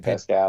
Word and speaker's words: Pascal: Pascal.